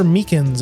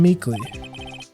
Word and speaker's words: Meekins: Actually, Officer Meekins at the detention center told us. That poor little doggy. Poor guy. I keep getting his name wrong, calling him Meekly.